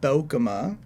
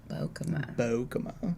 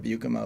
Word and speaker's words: Beukema: So it's pronounced Beukema. Beukema. Which is instead of Beukema, which is the way I've been saying it forever.